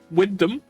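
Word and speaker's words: Wymondham: uh I like uh Windom I like Windom station wind which is spell killed him yeah which is spelled extremely differently than how you would think uh uh I'm fond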